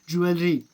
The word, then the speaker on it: jewelry: It's not jewelry, it's jewelry. Guys, point to be noted, this correct pronunciation is jewelry. Little R sound, jewelry.